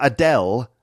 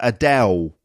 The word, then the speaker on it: Adele: London or estuary English you can hear it in the way she says the L sound at the end of her name so not Adele lalala not Adele but Adele so it's like a war sound like a w